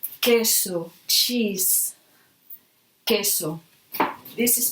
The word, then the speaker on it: queso: a key and K example we can say queso cheese queso this is pronounced like okay we can't as well I